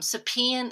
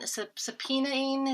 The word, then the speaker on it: subpoenaing: terrifying yeah um um supine subpoenaing is how you say it information from me